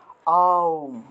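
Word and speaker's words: ওঁ: তা দেখুন এটা প্রকৃত উচ্চারণ কি, আমরা তো ওম বলে ফেলি, ঠিক না, অনেকে অং অং লেখে, এটা কিন্তু অং না, আবার অনেকে ওম লিখে ফেলে, ওম উচ্চারণ করে, এটা ওমও না, কিন্তু ওমও কিন্তু না, এটার প্রকৃত উচ্চারণ হলো আউম, আ উ ম।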